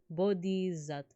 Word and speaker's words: Bodhisattva: Because it's like, I like saying Buddha, So is it the same D sound as Buddha? Oh, see, so I think I messed that one up. But like, I'm trying. Good pronunciation. Thank you. Oh, okay, so it's the same D sound. Bodhisattva.